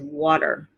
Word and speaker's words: water: Okay, the first word is water. Water. Okay, did you hear that D sound? Now, the British, they usually pronounce it as water. Water. But in America, we say water.